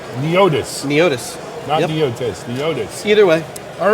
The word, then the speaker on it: Neotys: meeting you yeah so i mispronounced it it's it's neotis either way all right